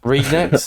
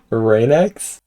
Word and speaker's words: Ragenex: Ragenex? No, you're gonna have to say it for me. Please save me here. Raynex? Raynex, I'm so sorry.